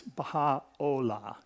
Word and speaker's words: Baháʼí: with a a u sound but as a Baha'i it's Baja Ola just just so you know if in case